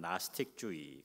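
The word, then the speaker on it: Gnosticism: 영어로 GN 이러는데 G가 묵음이라 그냥 나스틱주의 그렇게 해요.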